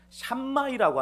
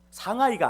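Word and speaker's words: Shammai: 예수님 당시에 바리새파 랍비 중에 샴마이라고 하는 사람이 있었습니다. 상하이가 아니에요. 발음 잘 하셔야 돼요.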